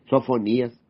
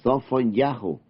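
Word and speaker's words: צפניה: Isaías Jeremías Ezequiel Daniel sofonías es sofon yahu no es Zacarías es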